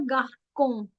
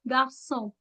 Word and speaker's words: garçon: It's never garcon, it's garçon, garçon, ki sound.